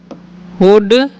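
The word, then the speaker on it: would: वैन वुड, when वुड, यहाँ पर L silent होता है।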